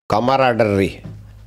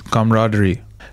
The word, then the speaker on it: camaraderie: is the first word Kamar do you want to try again Kamar it's close it's camaraderie try to pronounce this